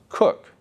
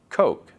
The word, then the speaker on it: Coke: First Methodist Bishop Thomas Cook his name is spelled in a way that we would pronounce Coke c k so Emory